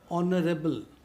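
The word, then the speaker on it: honorable: अब बाकी 2 क्या है, सेकंड वन क्या है, जहाँ पर क्या है कि H जो है, H साइलेंट हो, ऐसे वर्ड जैसे ऑनरेरी, आवर, ऑनरेबल, ऑनेस्ट।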